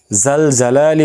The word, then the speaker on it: জাল জালালি: জাল জালালি বললে হবে না, জাল জালালি, জিমের উচ্চারণ আর কি, হরফ জিম হরফ আর কি।